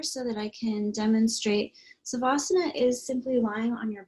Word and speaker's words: savasana: place to lie down we're going to be going into what we call savasana in northern india or shavasana in southern india so violet pronounces it differently i pronounce it savasana sometimes called corpse pose